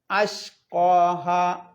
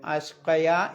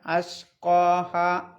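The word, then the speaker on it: أَشْقَاهَا: പിന്നെ അഷ്ഖാഹ ഉച്ചരിക്കണം, കത്തിൻ്റെ ഹംസയാണ്. നേരത്തെ പറഞ്ഞ പോലെ അഷ്ഖയ എന്ന് ഓതാൻ പാടില്ല, അഷ്ഖാഹ.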